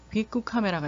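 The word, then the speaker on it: ビックカメラ: 하나 좀 에피소드를 얘기를 하면 일본에 가면은 빅쿠 카메라가 있죠. 일본어로 빅 카메라라고 하는데 이제 일본어로 발음을 하면 빅쿠 카메라예요.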